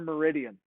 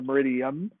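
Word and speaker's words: meridiem: I, which stands for minutes, space A, which stands for meridian, which is your AM, PM. Or meridium, I think it actually is pronounced.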